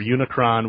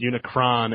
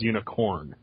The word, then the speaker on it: Unicron: it's amazing even though they mispronounced Unicron as unicorn but I forgive them